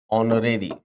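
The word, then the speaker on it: honorary: एन लगाते, जैसे हमने कहा honest, our, ऑनर, ऑनरेबल, ऑनरेरी, एयर। यस, पढ़िए बच्चों फटाफट। ऑनेस्ट, हाँ इनमें सब में एच साइलेंट होता है बच्चों।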